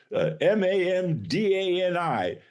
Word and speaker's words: Mamdani: It's Mamdani.